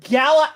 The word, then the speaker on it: Gala: that's the first question it's pronounced Gala or Gala and there's a YouTube video there's two ways there's a UK British and the US American all right I I